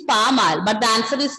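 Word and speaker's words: pas mal: It's not pasmal. Pronunciation is pamal, but the answer is not that.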